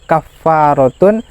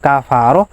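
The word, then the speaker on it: كفارة: Kemudian cara pengucapannya adalah kafaratun. Kalau di Al-Qur'an fahua kafaratun lah. Bukan kafarah, bukan kifarah. Ya.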